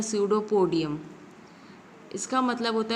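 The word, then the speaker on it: pseudopodium: क्या बोलेंगे सूडो पूर्णिया यह पीस जो है वह साइलेंट है और सिंह भुल्लर को बोलते हैं सूडो पोडियम इसका मतलब होता है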